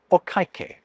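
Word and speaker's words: お会計: way, I should say okaikei. I remember this as being like you've messed up saying okay.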